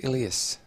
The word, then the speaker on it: Elias: rana and uh it's ilius i believe to uh yeah to bowl from the uh stockholm end so and the pronunciation of elias is correct trust me on that one i have checked so he comes in